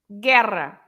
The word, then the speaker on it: guerra: difference in água and guerra? In água, I pronounce every letter, the U included. Água. Yes. In guerra, I don't pronounce the U anymore, right?